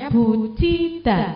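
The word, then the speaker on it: 붙이다: dan melipat jobtanya melipat Bu cita tulisannya buida Tapi bacanya buciita artinya apa menempel ya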